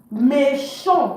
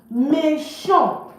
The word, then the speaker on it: méchant: Méchant, don't pronounce the T. Méchant, wicked for masculine.